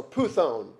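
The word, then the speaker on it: πύθων: The accent's on the first one, so puthon.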